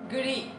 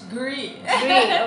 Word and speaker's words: gri: Gri. Turkish. Gri. Okay, gri. It's like a short form of green.